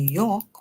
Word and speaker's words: York: In New York, we see the OR making the sound or. So we hear y, or York. And then city, whenever S